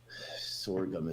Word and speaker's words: sorghum: Sword gum. It's spelled like this. S O R G H U M.